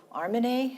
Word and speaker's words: Armineh: animals welcome Helen welcome Arman you know I know that your the pronunciation of your name is Arman not arm because um I listened